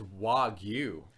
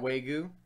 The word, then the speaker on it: Wagyu: know if I'm saying that correctly oh it's Wagyu wow you okay Janice you have to remember a part of part of my fun is purposely mispronouncing things to upset people so that that way goo was okay that way goo beef was just